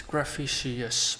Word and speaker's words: Gravicius: Yes, it's Gravicius, but I guess the New Zealand pronunciation is similar to the American pronunciation, where they drop some letters. Oh, as reference, aluminium versus aluminum.